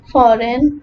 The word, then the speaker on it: foreign: The letter G is not pronounced when it comes before letter N in a word. For example, design, foreign, sign, and align.